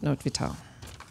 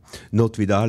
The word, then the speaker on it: Not Vital: the one and only notvital yeah not vidal is my name and please don't pronounce it not vital i'm not out of function yet not is a common